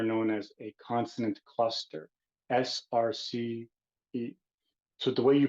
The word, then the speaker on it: srce: this specific language is you have to treat the R as if it has an U or a vowel in front of it, so it's pronounced srce.